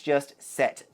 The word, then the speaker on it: Sète: I wanted to pronounce it as Sete or maybe Sete, but it is just Sète.